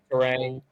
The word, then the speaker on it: Turang: Um, I'm looking at like Bryce Turang. Is that how you pronounce his name? Bryce Bryce Terang, Turang. yes. Yes, he's a solid one. Turang.